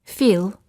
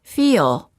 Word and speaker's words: feel: a sound in between instead of saying feel say feel it's almost as if you're